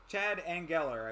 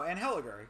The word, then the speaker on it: Anheliger: Everybody seems to think that he's just going to walk through Chad Engeller, I think is how it's pronounced. Oh, no, Anheliger. Yeah, I was right the first time.